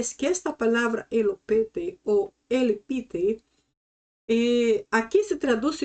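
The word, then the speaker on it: ἐλυπήθη: Esta palavra elopete, a pronunciação que estou usando para esta palavra, suena um pouco ultrapassada, porque a pronunciação mais moderna seria elipiti.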